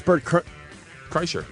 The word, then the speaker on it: Kreischer: going to be bad how do you say last name right yeah Cher and uh it's bir Cher Cher on uh Twitter